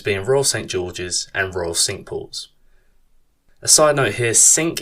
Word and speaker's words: Cinque: Those courses being Royal St George's and Royal Cinque. A side note here, Cinque is spelt C-I-N-Q-U-E-S, but it is pronounced sink as in the kitchen sink, not sank as in the French for the number 5.